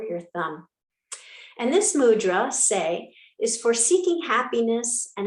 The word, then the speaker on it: Tse: It's pronounced Tse. It's spelled T-S-E.